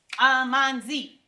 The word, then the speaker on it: amanzi: Amanzi is the Zulu language. 3 syllables. Amanzi.